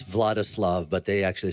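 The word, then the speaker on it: Władysław: is uh your Oscar winning performance as uh vadl spilman and we are going to see I can't pronounce anything um it's vladislav but they actually said V vadis vadis but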